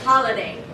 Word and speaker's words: holiday: Say this word. Holiday. What's the primary stress? Ha. What can we reduce? How would you say it? Holiday. There we go. Holiday.